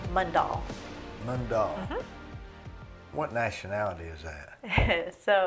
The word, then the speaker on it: Mundall: And how do you pronounce your last name? Mundall.